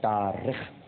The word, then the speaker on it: تارخ: طارق نہیں, تارخ. اس کا ایک تلفظ تارخ بھی ہے لیکن جو البدایہ والنہایہ میں علامہ ابن کثیر نے لکھا ہے وہ تارخ ہے.